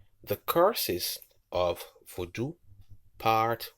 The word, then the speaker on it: Vodou: The Curses of Vodou, Part 1 by Drew Short and Xolali Togb-Wonyo. General information. Vodou, meaning spirit in the Fon and Ewe languages, pronounced Vodou with a nasal high tone U, also spelled Vodon, Vodou, Voodoo, or Voodoo, etc.